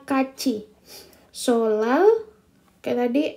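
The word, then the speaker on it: 같이: Ketika dia T bertemu dengan I, maka dia akan menjadi C. Jadi T bertemu dengan I, maka dia akan menjadi C. Jadi bacanya kaci.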